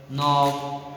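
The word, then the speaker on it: knock: के जो होता है क्या हो जाता है, साइलेंट हो जाता है। जैसे कि नाइट, नॉलेज, नॉक, नीड, नी, नाइट, नो, ये नाइट होता है वीर, क्या होता है, वीर या योदा, समझे ना।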